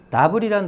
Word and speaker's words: novel: 나블이라는 단어, 노벨이라고 읽지 마시고요.